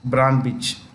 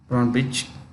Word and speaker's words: Brnabić: Serbia's prime minister is Ana Brnabić. Brnabić. It's the C is pronounced with this Brnabić.